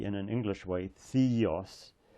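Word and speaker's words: θεός: in an English way Theos pronounce it more in a Greek way which is similar actually to Italian a a e o a so this is AOS AOS Theos the God now we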